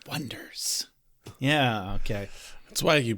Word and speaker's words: Oneders: So they spelled it Oneders. And then every time they're announced, they're like, next up, the Oneaters. Like, it's The Wonders.